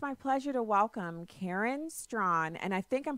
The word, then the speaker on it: Straughan: Right now, it's my pleasure to welcome Karen Straughan, and I think I'm pronouncing her name out. She'll have to correct me. Karen Straughan, spokesperson for the Men's Rights Edmonton.